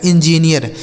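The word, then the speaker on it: engineer: गया एन, जी आई, देखिए ई एन से एन, जी आई से हो गया दोस्तों जी, एन से हो गया नौ, इस डबल ई का उच्चारण ईया, आर से हो गया र, लिखा है इंजीनियर।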